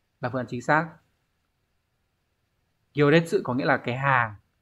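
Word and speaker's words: 行列: Chữ hành là gyo, chữ đằng sau là chữ liệt sẽ là detsu. Các bạn chọn phương án số 4 là phương án chính xác. Gyo detsu có nghĩa là cái hàng, hàng người xếp ấy.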